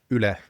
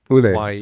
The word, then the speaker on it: Yle: it's a very Finnish word, Yle, Ule.